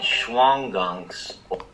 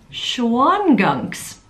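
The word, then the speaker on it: Shawangunks: as being located between the Catskills and the Schwanegunk. Oh, let me check on how to pronounce that. All right, let's listen to an expert do it. The ridge slicing through Ulster County is called the Schwangunks. Schwangunks.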